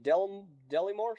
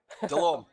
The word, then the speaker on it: Delorme: Get me Delimore. Sorry, how do you say your name? Delorme. Delorme. Delorme, sir. Delorme.